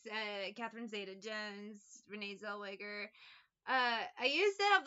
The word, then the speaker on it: Zellweger: would always say Renee Zellweger I know that's her name the one time I'm trying to say it wrong I say it right now zaywiger is what I would always say there is something they